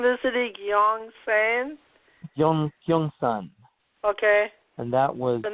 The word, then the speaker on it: Gyeongsan: Gyeongsan.